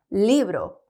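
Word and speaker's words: libro: 있습니다 한번 읽어 볼게요 리브로 그렇죠 이게 이제 책이라는 단어예요 리브로 어렵지 않죠 그냥 영어에 L 생각하면 되고 한국어에 리얼 발음이에요 그다음 옆에 있는 단어는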